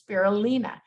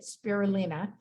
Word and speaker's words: spirulina: fond of and truly cannot live without is spirulina that's how you say it spirulina spirulina is a blue-green algae and it's usually